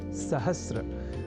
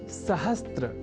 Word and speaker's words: सहस्र: अशुद्धि करने लगे हैं, और वह शब्द है सहस्र, जिसे सहस्त्र इस रूप में न केवल लिखने की ही बल्कि बोलने की भी प्रवृत्ति या कुप्रवृत्ति बढ़ गई है।